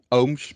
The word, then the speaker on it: Ooms: bit difficult to pronounce but most of them pronounce it like oomps or something like that but it's ohms but um i will